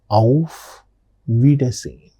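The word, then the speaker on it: Auf Wiedersehen: The next particular greeting that we are going to learn today is of vidine of vidine. What is this of vidin? It means goodbye of vidin pronunciation of vidin.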